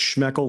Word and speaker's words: Schmeckle: name so is it schmeckle it's schmeckle that rhymes with Freckle but anything close will